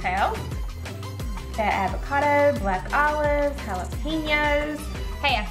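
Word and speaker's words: jalapeños: Got avocado, black olives, jalapenos.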